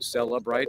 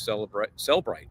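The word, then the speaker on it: Cellebrite: And I used to call it Cellebright because there is an E in there, Cellebr. Apparently, based on the expert, he says Cellbright, no extra syllable in there.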